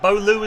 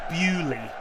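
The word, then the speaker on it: Beaulieu: I get to bolu and bolu is exactly how that word looks but it's bewley and it's spelled Beau and Lou like the two French words like bow and in lieu of l-i-e-u why is it bealey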